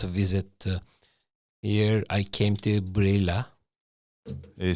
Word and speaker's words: Reghin: it's my first visit here I came to brilla they said that's brilla yeah pronounced in Romanian yeah and so possible listeners